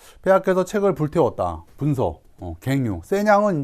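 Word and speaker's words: 咸陽: 세냥은 이제 함양의 중국식 발음입니다.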